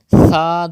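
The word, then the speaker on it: ث: Tha do zabar than, without whistle. Tha. If you say sa do zabar san, it's wrong because tha is pronounced without whistle.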